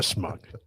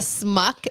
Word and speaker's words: schmuck: Everybody in Hollywood's a schmuck. What's You our say next it topic? wrong. yeah, you say it wrong. Schmuck. Schmuck. Gotcha. Thank you. Schmuck. It's not a smuck. It's a schmuck.